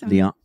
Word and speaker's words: Lianne: Lianne, is that how it's pronounced? It is. Lianne.